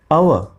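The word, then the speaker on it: hour: जैसे एच ओ यू आर, इसकी pronunciation है अव, तो यहाँ पे हो गया एन अव, एन अव।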